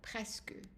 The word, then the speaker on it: presque: And the exception is quelque. So here, we pronounce the E. And then as we saw also, presque.